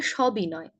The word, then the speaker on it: সবিনয়: সবিনয় নয়, এটি হবে সবিনয়। সবিনয় কেন? এখানে সহিত অর্থে স ব্যবহৃত হয়, আমরা স এর উচ্চারণ অ এর মতো করেই বলবো, সবিনয়।